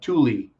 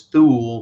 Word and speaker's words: Thule: Specifically the Black Sun or the Thule Society, Thule. Some people pronounce it as Thule, but it's Thule.